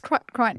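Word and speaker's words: Kryten: It's Kryton.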